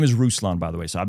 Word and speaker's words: Ruslan: My name is Rouslon, by the way. So, I've been mispronouncing your last name. You've been mispronouncing. Roosan.